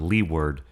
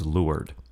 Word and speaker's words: leeward: terms Windward and lward that's spelled Le W Rd but it's not Leeward it's lur Windward means in the